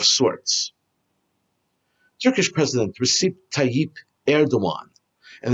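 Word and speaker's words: Erdoğan: Turkish President Recep Tayyip Erdogan, and it's pronounced, by the way, Erdogan, not Erdogan. It's spelled with a G, but there's a slash, which in Turkish means it's a W.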